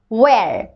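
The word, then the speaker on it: where: হু মানে কে, ওয়্যার উচ্চারণটা হয় আর না, উচ্চারণটা ওয়্যার, এইচ এর সাউন্ডটা হয় না, ওকে, এইচ এর সাউন্ড হয় না এখানে।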